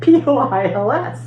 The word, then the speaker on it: poils: I said, it rhymes with boils, like boils and boils.